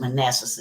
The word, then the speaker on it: Manasseh: Joseph Joseph epon and man manasse I I I pronounce it Manassa you know uh we might pronounce it different but there way I was brought up saying but anyway nevertheless Joseph